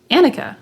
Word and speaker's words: Annika: not a lot of annika's wearing capelets right now so they know how to spell your name a-n-i-k-a annika and it's pronounced like monica without the m but not spelled that